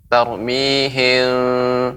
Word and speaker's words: ترميهم: Ya, untuk pengucapan tarmihim ini memang para ulama ada yang pengucapannya dengan memberikan furjah sedikit tarmihim ya. Namun ya pendapat ulama yang lain ya, dan ini yang juga dipraktekkan oleh Dr. Aiman Rushdi Suwaid ya, itu dengan menutup seperti biasa, dan yang saya juga